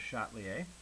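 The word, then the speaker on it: Le Chatelier: principal okay so yes that funky name there is pronounced with Shotley a it's not late chatlier's a French guy this is in your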